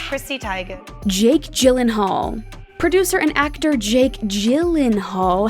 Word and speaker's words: Gyllenhaal: sweden and in ikea it is originally swedish but the phonetics are pretty simple it's not guy lynn hall it's gyllenhaal sounds pretty easy right